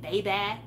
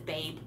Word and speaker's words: Babe: I liked Babe, even though she pronounced it Baby, but it's Babe.